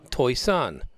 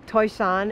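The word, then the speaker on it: Toisan: city of TOI song TOI Sun not pronounced like it's spelled toys on is like where the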